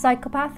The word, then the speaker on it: psychopath: and he can change next is the silent p in such words as psychopath and psychological if you're like playing